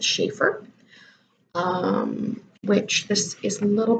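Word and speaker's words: Schaefer: even bones by Rebecca I think you pronounce it Shaffer which this is a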